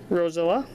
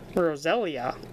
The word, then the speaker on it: Roselia: got blend energy rescue scarf Yama rubbish drifloon Rosella Roselia that's how you pronounce it Magmar uh Golurk uh reverse Holo